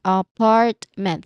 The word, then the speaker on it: apartment: Where is the stressed syllable in the word? What do you think? I I'll say it again. Huh? Apartment. It's very obvious. Apartment. Okay. It is stressed on the second syllable.